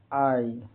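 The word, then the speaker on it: eye: जैसे EY का उच्चारण EY का आई।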